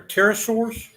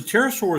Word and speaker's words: pterosaur: as far as the pterosaur is concerned the p is silent that's why it was